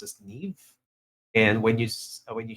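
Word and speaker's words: Niamh: is going to playing from I see a Neeve um now you know uh what's curious about this name um Chief I've always been saying it's Niam but it's I think it's islandic or uh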